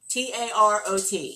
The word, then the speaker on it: tarot: The tarot, Tarot. Some people pronounce it tarot. Some people pronounce it tarot. It depends on where you learned it from.